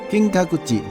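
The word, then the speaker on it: 金閣寺: on the upper left of the Krog Forest Pronounced in Japanese as キカクン It is the Kinkakuji Temple きんかくじ The original name is actually "Luyuan Temple" Because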